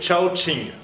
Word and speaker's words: Shaoxing: alors pour le vin je me suis trompé de la prononciation c'est shaoxing et voilà dès que